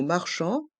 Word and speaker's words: marchand: de viande un boucher dans le mot marchand encore une fois le les lettres a et n font le son en et le D est mué dans le mot viande